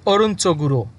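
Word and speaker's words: 오른쪽으로: এখন এখানে যেহেতু বাসিম আছে এই জন্য এটার সাথে যুক্ত করতে হবে উরো, এবং উরো যুক্ত করার ফলে উচ্চারণ চেঞ্জ হয়ে যাবে, উচ্চারণ হবে অরুঞ্চগুড়ো।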